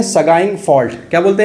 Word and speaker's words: Sagaing: हम लोग बोलते हैं सगाइंग फॉल्ट। क्या बोलते हैं? सगाइंग fault, SAGAING। इसको कई प्रोनाउंसिएशन में इसको अलग अलग बोलते हैं। कुछ लोग इसको प्रोनाउंसिएशन बोलते हैं शुगेन।